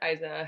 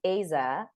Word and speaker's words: Aiza: us all better yes so it's pronounced Aza I mean no it's all good like um uh Isa also works like I guess more francophone people will call me that but I'm trying to standardize the thing if I can